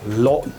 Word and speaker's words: lộn: Nếu chúng ta phát âm sai từ này, nó có thể dẫn tới một từ khác với nghĩa một bộ phận cơ thể của phụ nữ.